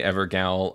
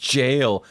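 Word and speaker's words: Gaol: them ever goals again I will never say ever gal again uh something like a thousand comments on that video It's pronounced jail okay until your recent Crystal night video that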